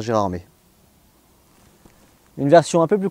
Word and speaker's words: Gérardmer: passé à jean omer la tradition orale elle veut qu'on continue à dire gérard mais une version un peu